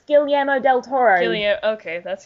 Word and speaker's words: Guillermo del Toro: It's Guillermo del Toro. Guillermo. Okay, that's how you pronounce it.